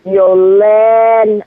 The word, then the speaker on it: Yoline: So it's Yoline.